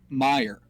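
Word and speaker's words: Meijer: my summers where it the store name is pronounced Meyer but the spelling of it is Mei J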